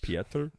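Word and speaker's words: Pieter: i e t yeah it's still pronounced Peter it's just Peter well no that would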